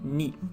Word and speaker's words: 二: And it's pronounced as ni, if it's just, used by itself.